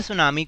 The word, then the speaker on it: tsunami: सुनामी लिखा हुआ है हमेशा सुनामी को हम ऐसे ही लिखते हैं लेकिन पी हमेशा साइलेंट रहता है इसलिए हम इसको सुनामी पढेंगे टीम सुना में नहीं पड़ेंगे ना लेट्स गो टो